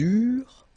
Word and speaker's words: eurent: Okay, remember that when we've got this ENT ending at the end of the plural form, so third person of the plural, you don't pronounce it, so you get eurent.